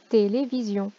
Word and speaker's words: télévision: On regarde la lettre S, d'un côté une voyelle, de l'autre côté une voyelle. Il est tellement timide qu'il zozote. Et on va donc prononcer le son Z.